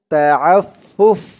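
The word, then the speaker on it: التعفف: দিয়ে এই ফা ধরবে, এখানে উচ্চারণ হবে ফুফ। কারণ এমনটা উচ্চারণ হওয়ার কারণ হচ্ছে এই যে জিম, জিম চিহ্নতে থামা, জিম চিহ্নতে থামলেই লাস্টের অক্ষর এই ফা, ফার নিচে জেরটা সাকিন হয়ে যাবে। ফার উপরে পেশ দিয়ে ফাকে ধরলে যেমন উচ্চারণ হয় এখানে তেমন উচ্চারণ হবে। ফা ফা পেশ ফুফ, মিনাত তাআফফুফ, উচ্চারণটা খেয়াল করবেন।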